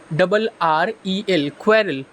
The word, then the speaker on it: quarrel: क्वेरल, QUARREL, क्वेरल। Pronunciation बहुत ध्यान से सुन लीजिएगा, क्वेरल, क्वेरल।